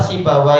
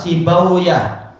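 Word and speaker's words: سيبويه: Rata-rata masyaikh membaca adalah sibawa ee juga apa? Rohawai. Tapi sebagian masyaikh India mengatakan tak tak bacanya adalah yaitu apa? Sibauyah, rahawuyah. Entah yang betul yang mana. Karena ini memang bukan bukan bahasa Arab, dia adalah bahasa Persia.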